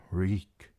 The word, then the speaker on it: Reek: Reek, reek, it rhymes with meek.